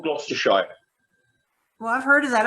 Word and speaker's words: Gloucestershire: It's a place called Gloucestershire. Well, I've heard of that. I just didn't know how to pronounce it.